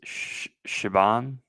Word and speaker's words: Siobhan: I believe the right way to say it is Shaban.